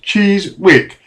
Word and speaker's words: Chiswick: And on further investigation, I found that Chiswick, the town I grew up in, and where Turnham Green is located, is a place of pure Frisian Dutch origin, Cheese-Wick, that will be pronounced Cheese-Wick, meaning cheese town, or perhaps more correctly, cheese area.